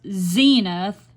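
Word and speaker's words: Senath: Missouri is a community called cenith pronounced Zenith they uh um that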